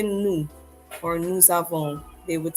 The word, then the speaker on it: nous avons: Notice we pronounce the S here because of the following word which begins with a vowel.